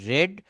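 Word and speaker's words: read: যাবে আ book is রেড বাই হিম এই রিড বানান কিন্তু একই তো যেহেতু এটা ভি থ্রি উচ্চারণ করতে হবে রিড রেড রিড মনে রাখবেন তো বলছে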